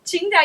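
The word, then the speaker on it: Tsingtao: of the beers we we import is chinga chinga you said it right good job and so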